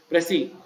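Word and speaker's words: précis: Actually, so many people pronounce it precise. It's not precise. It is pressy.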